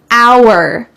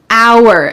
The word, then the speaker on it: hour: done with my hair hour hour notice that the H is silent hour we waited for an